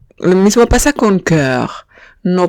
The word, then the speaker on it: cœur: Lo mismo pasa con cœur. Lo mismo pasa con cœur. No pronuncio la O y digo cœur.